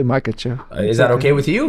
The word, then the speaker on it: Makhachev: How do you pronounce? I want to make sure I say your last name right. Makhachev. Makhachev. Yeah. Makhachev.